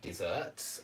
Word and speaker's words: dessert: meal, if you like desserts. I don't. And this one's pronounced dessert.